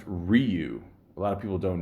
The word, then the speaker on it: Ryu: know I always pick rayu and it's actually pronounced Ryu a lot of people don't know that if